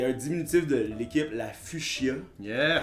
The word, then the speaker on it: Fuchs: ben, Premièrement, en plus, moi, je suis le seul qui dit Fuchs prononcé comme Fuchsia.